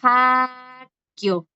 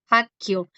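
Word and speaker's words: 학교: Van a ver, chicos, que hay una similitud entre Haxen y Hakio. Hakio. ¿Por suena Sí. como una K? Porque aquí termina en G y aquí está la G.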